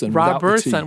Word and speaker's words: Robertson: Robertson. Without the T.